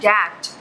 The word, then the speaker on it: debt: Silent होता है, means should, sorry L हमेशा साइलेंट होता है, मीन्स शुड, वुड, कुड। इसके बाद है हमारे पास DEBT डैट, इसको हम डैट पढ़ते हैं।